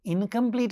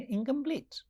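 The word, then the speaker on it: incomplete: फिर हम इसको इनकम्प्लीट नहीं बोलेंगे, इसको बोलेंगे इनकम्प्लीट.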